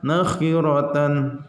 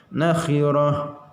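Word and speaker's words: نخرة: Di sini ada ta marbutoh, jangan dibaca nakhiratan. Nah, salah, karena ini ada di akhir ayat, maka dibacanya harus di waqaf atau berhenti, ya. Berhentinya bagaimana? Ta marbutoh dibacanya ujungnya ha, ya. Nakhirah.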